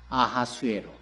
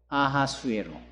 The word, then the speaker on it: 아하수에로: 아하수에로. 성경에는 그 이름을 그렇게 히브리적 발음 기호로 표현을 해요. 아하수에로.